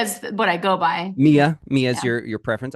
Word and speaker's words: Mia: Hi, my name is Mia.